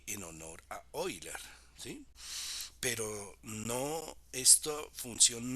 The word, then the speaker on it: Euler: Se escribe Euler, pero se pronuncia Euler.